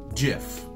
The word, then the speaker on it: GIF: brand jiff and so he intended the name to be pronounced exactly as the peanut butter brand jiff so according to the